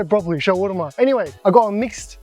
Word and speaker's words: shawarma: Anyway, I like shawarma. It's not shawarma. Shawarma is shawar. Have you ever tried schwarma?